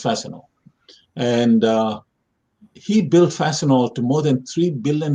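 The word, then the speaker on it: Fastenal: spelled fast okay fast ten all but it's pronounced fascinating and uh he built fasten all to more than three billion in sales with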